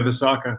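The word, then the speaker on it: Visakha: Is it Visaka? Yeah, that was pretty good. Yeah, Visaka.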